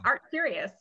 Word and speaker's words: ArtCurious: ArtCurious.